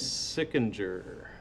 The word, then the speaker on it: Sikinger: City versus Sikinger. Did I pronounce your name correctly, sir? I'm sorry. Yeah, they pronounce it sicker or sikinger. Either one.